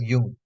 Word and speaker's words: Jung: This is pronounced as Jung, Carl Jung.